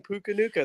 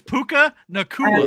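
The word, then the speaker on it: Puka Nacua: Just like dropping Puka Nuka this year, which was Puka Nuka? Disrespect on that man's name is absurd. It's Puka Nakua.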